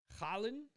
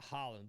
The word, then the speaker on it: Haaland: Haaland, I guess is how it's pronounced, not Holland.